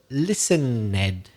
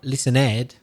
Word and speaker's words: listened: You said listen, Ed, at the end. It's not listen, Ed. The E in ED is silent. Listened.